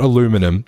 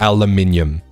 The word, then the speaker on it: aluminium: It's not aluminum. That's wrong. It's aluminium. That's how it's pronounced in the Queen's English, which is correct English.